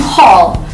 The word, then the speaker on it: whole: The next rule is when the letter W is followed by the letter H in the beginning of words, such as in words who, whom, and whole.